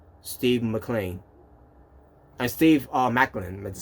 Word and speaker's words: Maclin: of steve macklin now i thought it was gonna be mclean but instead is uh macklin so i i i